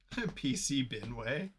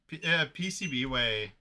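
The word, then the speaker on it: PCBWay: And Pronounce AC97. HD, Dan? PC Binway. Oh man, PCB Way.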